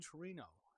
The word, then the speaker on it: Torino: I don't know if you pronounce it Turin, Torino.